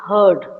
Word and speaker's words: heard: hear, And heard is heard. What it is? heard. Heard. The same way we pronounce herd.